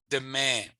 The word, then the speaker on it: demain: Demain. So that comes from French. So again, the N is nasally.